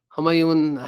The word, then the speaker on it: Humayun: So Humayun, have you? Can you hear me now? Yes. Okay. How do you say your name? First name? The way you said it was correct. It's Humayun. Humayun.